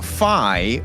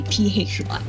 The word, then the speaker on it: PHY: His name is Peihan Yap, so it will be PHY.